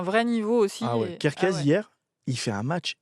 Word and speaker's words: Kerkez: Les latéraux, on en a un tout petit peu parlé, c'est Kerkez. C'est comme ça Kerkez. Kerkez, Ouais. c'est comme ça qu'on prononce.